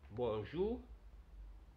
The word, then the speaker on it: bonjour: B-O-U en bonjour. O-U se pronuncia como U del español. Por eso digo bonjour.